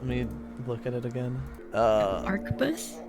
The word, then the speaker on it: arquebus: Pronounce that gun name. Let me look at it again. Arquebus? Arquebus, yep.